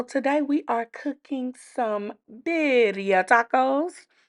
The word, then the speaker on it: birria: Okay y'all, so today we are cooking some birya tacos. Biria in English is how you will pronounce that. This is my take on it.